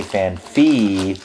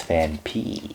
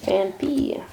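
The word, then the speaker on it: Phanpy: Cuz a lot of people say FanFi, but there is no PH. There's no PH. And it's Fan P. Fan P.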